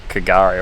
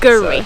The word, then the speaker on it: K'gari: Yeah, it's not pronounced Kagari or however we thought we were trying to say it. Guri. So, yeah, we think we've got it right now.